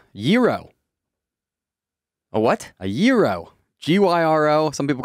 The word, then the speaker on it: gyro: a what a giro g-y-r-o some people call it a gyro some people call it a hero i believe the greek pronunciation is giro really uh-huh i think